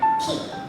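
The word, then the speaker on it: 木: Kunyomi itu dibaca apabila itu kanjinya berdiri sendiri seperti ini. Nah, ini tuh dibacanya ki. Dibacanya ki.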